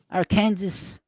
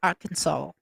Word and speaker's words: Arkansas: do you mean Miss Marlene she's in Arkansas our Kansas it's spelled Arkansas what is they call it Arkansas our Kansas why is Kansas Kansas and Arkansas